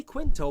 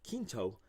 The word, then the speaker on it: Quinto: and she goes hey you say quinto but that's not how you pronounce that name and i said oh it's q-u-i-n-t-o and then kinto yeah emailed me and